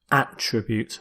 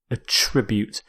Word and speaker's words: attribute: It's a verb. So with this verb you stress the second syllable. It also works as a noun where you stress the first attribute. But here, as a verb, attribute.